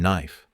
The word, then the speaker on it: knife: uncover some of them K and knife k n no it's there but silent G in Gnome sign